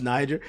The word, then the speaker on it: Niger: I know that that's pronounced Niger.